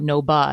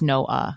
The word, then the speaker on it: Noah: So like Noah. Noah is an example because there's two vowel sounds next to each other and you pronounce both of them and there's no consonant. It's not no ba, it's no uh.